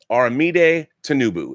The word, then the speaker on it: Aramide Tinubu: Aramide Tinubu is her name, and I want to thank